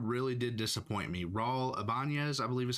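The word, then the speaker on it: Ibañez: Raul Ibanez, I believe is how you say his last name.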